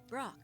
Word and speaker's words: Brok: name what about it go ahead say my name it's Fork of course no it isn't Brock Chief I thought you